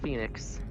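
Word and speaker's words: Fenix: I am Phoenix. Spell that last name for me, please.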